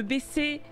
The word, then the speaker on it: baisser: Et je fais attention à bien prononcer le S de baisser.